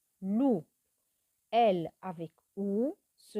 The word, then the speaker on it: loup: Elle avec OU se prononce loup. Elle avec OU se prononce loup. Un loup. Le P ne se prononce pas.